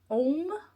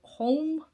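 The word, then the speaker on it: Homme: And that's the Dior M or home. Uh here you don't pronounce the H apparently on those.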